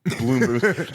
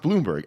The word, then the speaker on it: Blomberg: Bloomberg instead of Ron Bloomberg like what's up with that it looks like blomberg but it's pronounced Bloomberg anyway he's kind of